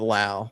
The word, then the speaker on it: Lowe: He does pronounce it Lau, like now or wow.